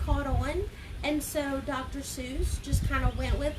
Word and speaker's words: Seuss: soon I would love to call dr. Seuss for not dr. soy's that sounds weird right it didn't even look like that but people just kept saying it wrong hey Lindsay alright so